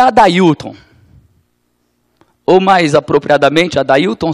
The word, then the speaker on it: Adailton: Mas não é Eidealton, como o americano consegue ler meu nome. Eidealton não é o meu nome. Meu nome é Adailton, com esta pronúncia, com essa sonoridade.